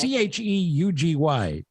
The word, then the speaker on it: cheugy: I don't even know how to pronounce this. It's Cheugy. Cheggy? Chugi?